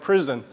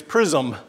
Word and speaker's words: Prism: it that name because International students say it like prison it's it's it's it's not prison ministry it's prism um and so Pittsburgh